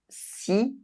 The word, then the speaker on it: six: Six ans Six years Six cents Six hundred The number six is pronounced when the word that follows starts with a consonant.